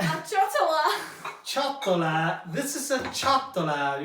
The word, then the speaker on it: ciotola: So in Italy, we call this a ciotola.